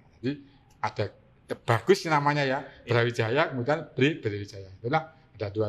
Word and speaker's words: Brawijaya: Bra, bacanya Bre. Bre itu gelar raja. Kemudian siapa namanya raja saat itu? Wijaya. Sehingga gelar Raja Majapahit, Bre-nya siapa? Brawijaya. Jadi ada bagus namanya ya, Brawijaya, kemudian Brawijaya.